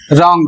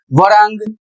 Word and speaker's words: wrong: Next word है रॉन्ग और इसका सही प्रोनाउंसिएशन रॉन्ग होगा। यदि वरांग या कुछ और इसके अतिरिक्त आप बोलते हैं तो गलत बोलते हैं और इसका जो अर्थ होगा वह होगा गलत।